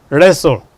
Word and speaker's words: wrestle: And the letters are there, but the sound is not there. Look at listen, wrestle, hustle, bustle.